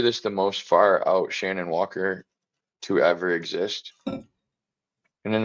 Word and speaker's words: Shannon Walker: Repeat after me, people. Shan. On. Walker. Shannon Walker.